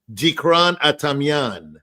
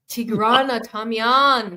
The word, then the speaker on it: Dikran Atamian: I like your pronunciation, but it's Dikran Atamian. Okay. Tigran Atamian. No, you added the Tigran. Actually, that's the real name. I was saying Dikran Atamian, but it's an Americanization of the Tigran Adamian with like a D.